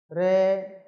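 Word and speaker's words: 零: Re. Đây nó có trường âm nha các bạn. Chúng ta không đọc là re y.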